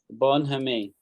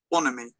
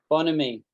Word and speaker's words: bonhomie: Bonhomie. Bonhomie. Do you know what that means? Alida won't know what that means, right? But you might, Anjali, but I don't think you do. Bonhomie.